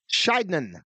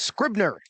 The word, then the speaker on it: Scribner: So that's going to bring up Bennett Scheidman. Boy, I'm thankful Dan went down and got those pronunciations on those names. And Dan went and got pronunciations, and evidently we had the wrong name. It's Scribner.